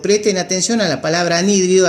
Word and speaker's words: anhídrido: atención a la palabra anhídrido acento en la y nh y anhídrido y como el siete